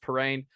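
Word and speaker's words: Perrin: now so prep school it is for zachary parane i hope i'm saying that right i think i saw when he announced yeah yeah it's spelled p-e-r-r-i-n yeah but it's it's pronounced parane um kind of a blow because there's not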